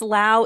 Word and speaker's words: Lau: And yes, Lau is how you say it. Yes, it's Lau.